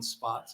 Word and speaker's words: Spatz: My name is Spotts. It's Spatz. Believe it or not, it is pronounced Spotts.